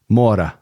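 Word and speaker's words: Moura: so there you have Wagner how do you pronounce his last name MAA MAA MAA MOA okay MOA MOA all right there we go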